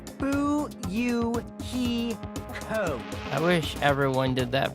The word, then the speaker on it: Fuyuhiko: last name is my first name is pronounced boo you he code i wish everyone did